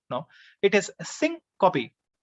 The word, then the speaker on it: syncope: sometimes we pronounce it wrong i used to pronounce this word wrong syncope no it is sync copy right uh we have to go to the